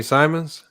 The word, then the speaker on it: Simons: How you say his name? Anthony Simons. Simons. Yeah. Oh, he talking about Simons.